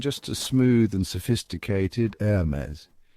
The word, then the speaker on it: Hermès: No H sound, no SS at the end, just a smooth and sophisticated Hermes.